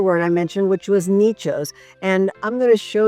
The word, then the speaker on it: nicho: A dicho, like I said, is a saying, and nicho rhymes with that, so we called it Dichos Nichos project.